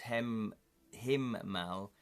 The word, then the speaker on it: Hemlo: Ferrin regarded the hero Hemlo, pronounced Himmal, German for sky, as just a blink